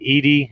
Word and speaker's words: Edey: I think, is it Edey? That's how you pronounce it correctly, yeah, right?